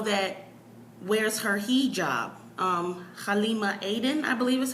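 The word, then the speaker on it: Halima Aden: hired the model that wears her hijab um Halima Aiden I believe is how you say her name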